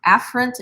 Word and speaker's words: afferent: arterial now in actuality these terms are pronounced afferent and efferent but how many of